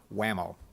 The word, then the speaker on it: WMAO: Management Association of Ohio or pronounced an acronym form whammo we have a very